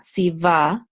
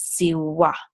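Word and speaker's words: צִוָּה: going to say va, si va, and this hay is silent. Now, anciently, the vav is pronounced like a W, more like a W. So anciently, it would have been pronounced as siwa, siwa.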